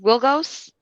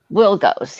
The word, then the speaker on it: Wilgos: wilgos okay and it's pronounced wilgos will goes yes all right okay how